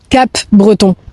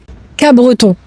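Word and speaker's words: Capbreton: Parce que toi tu prononces Cape Breton et là on sait direct que tu es pas d'ici. Alors si tu veux faire illusion et passer pour un local, il faut prononcer c qu' breton. Donc en fait le P tu l'oublies quoi.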